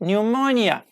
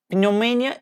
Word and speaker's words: pneumonia: while Latin so like pneumonia pneumonia psychology as you see I don't pronounce P here psychology psychology yes or domain domain like not if you say no mania it is wrong pneumonia pneumonia psychology psychology